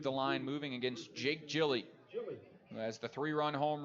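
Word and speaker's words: Hjelle: How would you think this name is pronounced? Spelled H-J-E-L-L-E. I had to look it up, and it's Gilly. Gilly.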